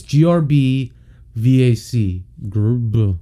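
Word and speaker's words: Grbac: say his name because it goes grb to star and how the do you pronounce that like pronounce that it's grb vac yeah see he was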